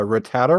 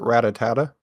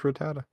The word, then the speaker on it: Rattata: used to pronounce uh Rattata wrong I used to pronounce it ratatata oh you added like an extra a to it yeah yeah like an extra ta I think I've heard